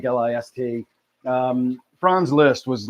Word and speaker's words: Liszt: It's Liszt, Liszt. So Franz Liszt, most people just say Liszt, like List.